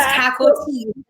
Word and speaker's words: Cacoa: girl, it's Cacoa Caco, Tea.